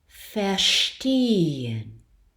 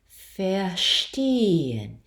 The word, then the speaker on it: verstehen: Verstehen. I'll do that one again. We're passing through the turned A after the epsilon. Verstehen.